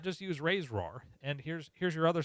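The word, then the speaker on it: RAISERROR: Yeah, it is silly that they call it Ray's roar, but that's because there's only one E.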